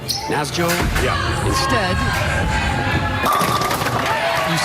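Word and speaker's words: Nässjö: again n a ssj so you eyeball it and you say naso Naas Joo yeah instead you say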